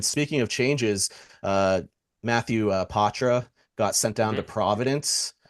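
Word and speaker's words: Poitras: changes here and speaking of changes uh Matthew Patra got sent down to Providence um which is Nice pronunciation Gabe thank you I've been working on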